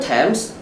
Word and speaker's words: Thames: say that this how else can you be pronounced what Thames different temps what else Moscow is Moscow girls is gaming